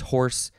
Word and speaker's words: hoarse: voice and of course horse in this case is spelled h-o-a-r-s-e horse like what's my my horse voice if i were sick